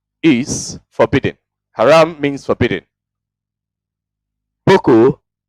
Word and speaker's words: Boko: Boko is Hausa pronunciation of book.